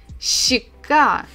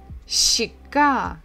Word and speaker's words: щека: Щ, щека, щека.